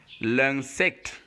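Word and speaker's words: l'insecte: But since it is joined with N here, I-N, that is why the sound is different and is pronounced ung. Remember I said whenever you see UN and IN, they have the same sound. UN is IN is equally So that's why we get the word pronounced l'insect. L'insect.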